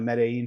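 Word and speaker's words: Medellín: And If you're going to move here, you're going to have to get the pronunciation right. Medellin.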